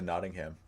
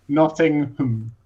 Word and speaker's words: Nottingham: That reminds me of when I went to Nottingham, because I went there. I took the train. I'm going to pronounce.